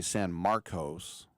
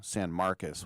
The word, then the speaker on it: San Marcos: Texas State is from San Marcus. Now, I would say San Marcos, but they pronounce it like a U. San Marcus, which is in between